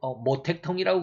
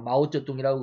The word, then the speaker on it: 마오쩌둥: 중에 핵심이 공산주의 국가다인가 중국의 마오쩌둥 모택동이라고 그러죠 우리는 한문 그대로 읽으면 뭐 택동이라고 그러는데요 중국 발음으로 마오쩌둥이라고 그러죠 그래서 사상을 마우이죠 그럽니다